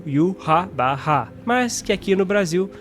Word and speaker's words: Yhwach: Y sendo o u, o h sendo ra e o w sendo o bar. Depois temos o h novamente repetido com o som de ra e aí virou u ha ba.